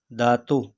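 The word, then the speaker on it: datuk: ठीक है उसके बाद दादा दातो ठीक है के यहां पर भी साइलेंट है ठीक है दातो दादी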